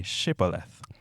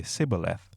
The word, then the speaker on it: Shibboleth: they would tell him to say, "Shibboleth." If he was from Ephraim, he would say, "Sibboleth." because people from Ephraim cannot pronounce the word correctly.